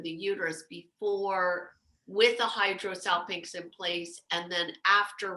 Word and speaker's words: hydrosalpinx: And spell it for me, Serena, so we get the condition right. Hydro's easy. Yeah, hydrosalpinx, HYDRO, and then salpinx is SALPINGX. Is that right? Salpinx.